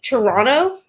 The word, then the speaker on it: Toronto: pronouncing it incorrectly and you're not supposed to pronounce that second T you don't pronounce half the letters okay you said Toronto God Quebec is rubbing